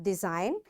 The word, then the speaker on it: design: be silent for example design now G is there and N is after G so this g is silent and we'll say it design foring sign align resign